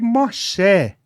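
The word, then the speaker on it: משה: aí eu descobri que Moxé é a pronúncia do nome de Moisés em hebraico é aquele que veio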